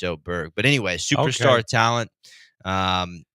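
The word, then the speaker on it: Åberg: wise I think it is LV a but you know with the little o above his above the a it's it's O Berg but anyway Superstar Talent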